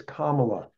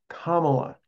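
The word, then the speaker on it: Kamala: way just for everybody it's comma okay comma comma I remember her her her 10-year-old uh God child I think taught everybody that the pronunciation is part of the the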